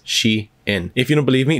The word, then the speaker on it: Shein: none other than Xi'an and yes I said she in because that's actually how it's pronounced I did a lot of research to figure this out because in one of my previous videos when I mentioned Sheen as a supplier somebody actually corrected me in